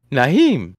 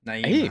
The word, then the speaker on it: Nyheim: Nyheim. Yeah. Nyheim Hines. No H. Mom, the H is silent.